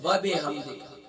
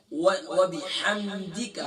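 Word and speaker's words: وبحمدك: وبحمدک، ہم پڑھتے ہیں وبحمدک، وب بازر بی ہوگا نہ کہ بازر بے، وبحمدک، وبحمدک، ہم پڑھتے ہیں وبحمدک، دے کا نہیں ہے، دال زیر دی نہ کہ دال زیر دے، وبحمدک وتبارک اسمک، ہم کیا پڑھتے ہیں؟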